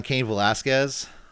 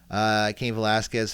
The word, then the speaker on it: Cain Velasquez: I got an update on Cain Velasquez, or Cain Velasquez. Like, how do I pronounce it again?